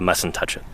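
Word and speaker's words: Mussentuchit: of the Cedar Mountain we call it the m and touch it that's how it's pronounced yeah and uh of course I wear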